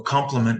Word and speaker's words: compliment: not action verbs so there are two words in English that are pronounced complement com ment and i m e n t so complement with an e is something that completes something else that's what we're talking about right now the other one is with an i complement it's pronounced the same way it's something nice that